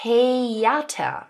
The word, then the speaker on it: Theater: A 'th' makes just a 't' sound as in 'Theater' (tayata), right?